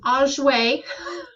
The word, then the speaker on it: Auger: It's pronounced Auger, produced by Pierre Victor Auger in 1925.